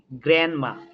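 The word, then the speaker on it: grandma: গ্র্যান্ড মা নাই, গ্র্যান্ড মা, ডিটা কিন্তু সাইলেন্ট।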